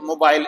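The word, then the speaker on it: mobile: जैसे मोबाइल इसमें दो सिलेबल है। मो अलग है, बाइल अलग है। मोबाइल, मोबाइल, तो जो फर्स्ट सिलेबल है उसमें अगर एन्ड में आए, तो यह लॉन्ग साउंड आएगी।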